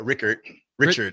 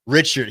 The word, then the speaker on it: Richert: Richert here. Richert, yeah. It's like he's Richard, Richert but with a with T.